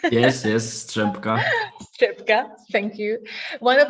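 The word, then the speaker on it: Strzępka: Monika Střepka, am I correct in this pronunciation? Yes, Střepka.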